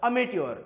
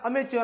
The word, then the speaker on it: amateur: आणि जर मोबदला न घेता तुम्ही एखादं काम करत असाल तर त्याला म्हणतात अमेट्योर, किंवा त्याला अमेच्योर असं सुद्धा उच्चार करतात काही लोक.